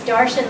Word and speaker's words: Darshan: It's Darshan, like Martian. Just put a D instead of an M, so that's how you pronounce his name.